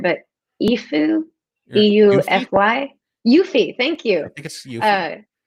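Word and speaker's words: Eufy: first home kit supported video camera I can't pronounce the name right but even bu FY u fee thank you you fee there they're sending me a one of their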